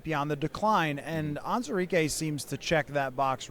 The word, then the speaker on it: Onwuzurike: Uh with Onwuzurike, that's correct pronunciation, yes?